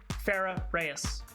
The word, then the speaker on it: Farah Rees: your full name is Farah Rees and how is that pronounced like how I just said it fair a ray e